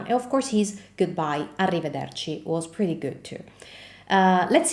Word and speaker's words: arrivederci: And it's definitely one of the hardest Italian words to pronounce. Why? Because not only we have the R sound, which in Italian is pretty different from the English R sound, but we also have a double R.